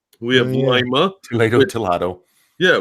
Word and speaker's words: Lima: We have Lima. Toledo. Yeah, we have Lima, which is also pronounced Lima if you go down to South America.